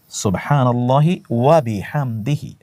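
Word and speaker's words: سبحان الله وبحمده: সুবহানাল্লাহি ওয়াবিহামদিহি। কয়েকবার আমার সাথে বলুন। সুবহানাল্লাহি ওয়াবিহামদিহি। সুবহানাল্লাহি ওয়াবিহামদিহি। শুদ্ধ করে বলুন। সুবহানাল্লাহি ওয়াবিহামদিহি। সুবহানাল্লাহি সিন এর উচ্চারণটি শুধু জানা হয়।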